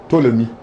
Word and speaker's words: Ptolemy: Well, you, how do you pronounce it? Ptolemy.